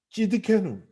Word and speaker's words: 찌드케누: 마지막 여호와 찌드케누. 이게 표현 자체가 발음이 찌드케누라는 단어예요.